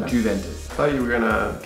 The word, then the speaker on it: Juventus: Juventus.